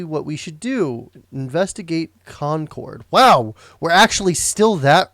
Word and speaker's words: Concord: And it's Concord. Bostonians apparently pronounce it Concord.